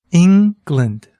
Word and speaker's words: England: this syllable is stressed try saying the word England England can you hear with the stresses it's on the first syllable in now if you're